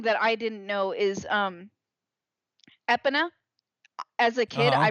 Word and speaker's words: Epona: I was told I was completely fucking wrong, and it's Epona, not Epona.